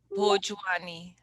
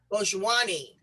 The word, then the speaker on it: Bhojwani: Now, let me make sure that I am pronouncing your beautiful name correct. It's Reshma Bhojwani. Yes. Bhojwani. Bhojwani.